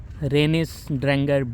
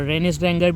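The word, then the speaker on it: Reynisdrangar: Obviously my pronunciation is not Icelandic, but this is the best I can do. Renisdrangar beach.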